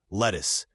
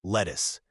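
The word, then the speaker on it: Lettice: By the 1600s, it sounded like lettuce. English pronunciation had shifted just enough that the name became a homophone for a vegetable.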